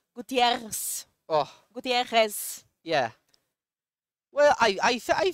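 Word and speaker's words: Gutiérrez: They say we have to roll the R, so Gutierrez.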